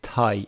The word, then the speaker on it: Thai: Thai from Thailand. Thai. And it is Thai. It is not Thai.